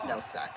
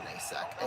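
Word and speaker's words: Nosek: Thomas Noack. Sorry. I don't know why I called him Nayack and called him Tomas too. Oh, it is spelled like Tomas.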